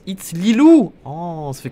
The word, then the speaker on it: It's Lilou: It's Lilo, ça se prononce It's Lilou.